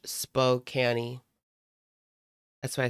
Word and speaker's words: Spokane: It's pronounced spokani.